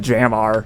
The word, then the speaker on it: JMR: here's the jmr it's it's pronounced the jam r it's dumb we're never